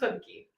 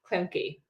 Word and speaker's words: Klemke: you pronounce it? Klemke. Klemke.